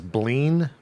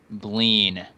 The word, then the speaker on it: Bleen: name my character's name is bleen b l n bleen kind of like spleen bleen rhymes with spleen rhymes with sure clean